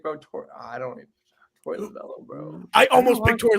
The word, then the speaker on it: Lovullo: It's spelled like Lovullo, but it's Lovullo. Lovullo, yeah.